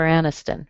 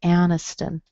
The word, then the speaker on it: Aniston: Jennifer Aniston, right? Everybody knows who she is, I think. The I in Jennifer sounds like a schwa, and the I in Aniston sounds like a schwa.